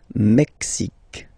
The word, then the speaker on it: Mexique: Mexique. It's really the X. Huh? Le Mexique. And then remember this Q-U-E, it's only K.